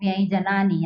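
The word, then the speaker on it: व्यंजनानि: तो हम क्या करेंगे, सही सही उच्चारण करेंगे, व्यंजन नहीं कहेंगे, क्या कहेंगे, व्यंजनानी।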